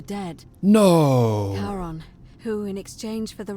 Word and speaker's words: Charon: The name you heard wasn't Karen. As big as his face. It was C-H-A-R-O-N. What the? As in, Charon, the ferryman of the dead. No. Charon, who, in exchange for